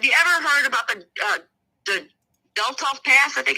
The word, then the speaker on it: Dyatlov: Now, you guys, have you ever heard about the Dyatlov Pass? I think it's how you pronounce it. In Russia, Dyatlov Pass.